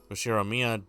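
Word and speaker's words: Ushiromiya: His name is Ushiroia George, pronounced Ushiroia George.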